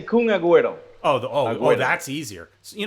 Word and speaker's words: Kun Agüero: okay how do you say Kuna just say kun agüero oh boy that's easier you know what's easier